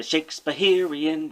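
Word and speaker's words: Shakespeherian: But in order for it to meet the ragtime rhythm, you need an extra syllable in there. That's why it's the Shakespeareian rag.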